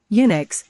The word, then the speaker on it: Unix: Unix, pronounced Unix, is a popular multi-user, multitasking operating system developed at Bell Labs in the early 1970s.